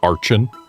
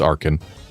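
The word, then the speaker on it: Archen: like it should be Archin. But no, it's Arkin.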